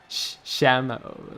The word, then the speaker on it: Chamu: Chamio? Chamio. There we go. Oh, this is a Dominator Agnes Tachyon. Shamu, like the whale.